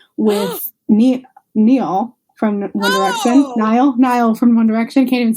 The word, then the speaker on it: Niall: Do you stay with Neil then? Niall. I know I said it wrong, and I'm correcting you.